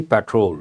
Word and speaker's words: patrol: were on a security patrol an important word word you all know petrol petrol the second syllable has to be stressed spelling is different that's